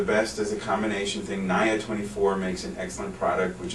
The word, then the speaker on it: Nia 24: Some people pronounce it Nia 24, but it's Nia after niacin. Nia 24.